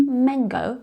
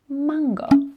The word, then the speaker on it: Mango: do you say it the problem for the english native speaker is that the vowel ah they tend to pronounce as a sound which is incorrect so stop saying mango because it's mango remember mango the white r sound and continuing still